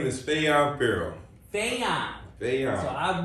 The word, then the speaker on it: Fajuan: that's why I yeah the J is silent all right you know